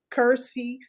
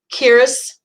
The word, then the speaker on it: Kearse: Again, everybody, this is Kersey. Did I say it right? Kearse, Kearse-.